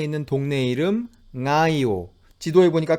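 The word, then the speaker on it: Ngaio: 해 볼 수 있겠죠 우리가 이 발음을 함에 있어서 어려움을 느끼게 되는 것은 이 소리 영국의 비움 이 소리가 아까 각리 하던가 혹은 성애 에서 봤듯이 이게 우리는 늘 그걸 받침으로 쓴단 말이에요 그런데 마우리 어는 이걸 초성으로 쓴단 말이죠 이거 땜에 좀 불편함이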